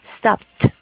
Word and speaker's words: stopped: Stop termina en una P, ¿cierto? Entonces, para pronunciar ese verbo en pasado, vamos a reemplazar esa ed por el sonido de la T. Stopped, right?